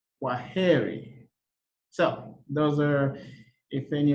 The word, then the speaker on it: Kwaheri: In Swahili, you say Kwaheri.